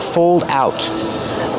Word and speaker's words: fold out: Use the long O like old and cold, plus the dark L. Fold, old, cold. Fold out. Link the sounds.